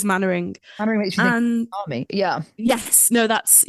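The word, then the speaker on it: Mainwaring: Um for some reason it took me forever to learn how to pronounce that last name, but it is Manoring.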